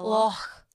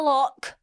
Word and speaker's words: loch: It's like a cliff front drop, and then into the loch. You have to say it like that. Loch. It's not a lock. It's a loch.